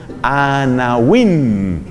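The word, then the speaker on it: עֲנָוִים: porque es muy linda se dice anawin se escribe con w anawin anawin quiere decir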